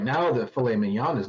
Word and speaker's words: filet mignon: you right now that filet mignon is not one of them i believe that and it's pronounced filet minion get it right um minion fillet minion pork